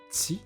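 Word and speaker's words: tsy: Le TS, ça a une prononciation assez pointue. C'est t. Là, on prononce que le TS. T. Ma mâchoire est serrée et les lèvres sont entrouvertes.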